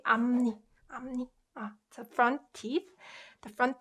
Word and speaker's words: 앞니: So this one as well, it's pronounced 앞니.